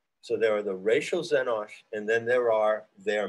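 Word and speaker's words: xenosh: yours truthfully the word zenosh x e n o s h and of course it comes from the greek xeno meaning foreign or alien it's an x but it's pronounced like a z so who are the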